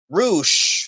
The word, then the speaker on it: Rush: LFI's Rush and Jalistico. Roosh and Jalistico. Sorry, yeah, it's just names are spelled the same, but they're pronounced differently.